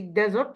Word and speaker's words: desert: We say desert with pronounced as Z.